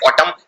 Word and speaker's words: autumn: ये एन उच्चारण नहीं किया जाता, सिर्फ बोलते हैं ऑटम, लेकिन आखिर में एन भी आता है।